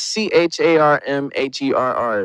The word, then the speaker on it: Charmherr: That's CHARMHERR. It's really, it sounds like Charmherr, but it's really just Charmherr.